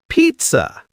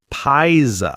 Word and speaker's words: pizza: Pizza. Everyone loves pizza. Not pisa.